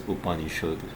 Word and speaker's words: Upanishad: So next time, Upanishad. I only did 2 things today. First thing I read is Srimad Bhagavatam, and this is Upanishad. That's how you're supposed to say it. It's not Upanishad, it's Upanishad.